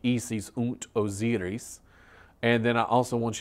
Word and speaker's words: Isis und Osiris: The German pronunciation will be Isis und Osiris.